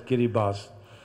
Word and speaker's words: Kiribati: president of the of kiribati it's written as kiribati but pronounced as kiribati this is a small set of islands which